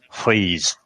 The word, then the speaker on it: Fries: they changed his name I'm gonna say how is spelled first it was dr. Victor fries but of course she put a bit of a German accent there and it's dr. Victor fries so basically from his